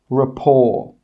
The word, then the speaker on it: rapport: The letter T is not pronounced in these words. Castle, Christmas, gourmet, listen, rapport. In all of these words, we're not pronouncing that T sound. It is silent.